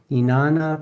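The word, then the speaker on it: Inanna: Inana, pronounced Inana, was worshiped by the ancient Samrians for over 3,000 years.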